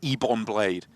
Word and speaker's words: Ebon Blade: on that the bond it's always the ebon blade thanks they happen yeah evan blade yeah like ebony I've never had him